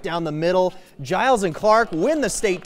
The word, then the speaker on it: Giles: GIRLS DOUBLES -FORT BENTON'S MEGAN CLARK AND KATIE GILES (RHYMES WITH ISLES) VS.